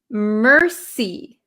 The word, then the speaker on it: mercy: So this word is pronounced mercy. Mercy. So if you know French, how they say thank you is merci, merci. This word in English is we have a strong R sound, mercy, like I see.